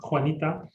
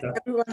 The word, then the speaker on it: Juanita: Yeah, thank you, Juanita. I'm going to pronounce it the Spanish way. Everyone Juanita.